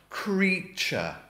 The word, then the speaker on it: creature: It is pronounced creature, to rhyme with teacher.